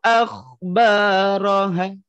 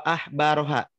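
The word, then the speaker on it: أخبارها: Tapi kalau kita baca baroha dengan ha itu artinya pendeta.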